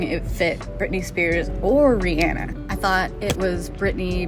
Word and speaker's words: Rihanna: this is Rihanna and Rihanna excuse me that's how she actually pronounces her name Rihanna and her company Fenty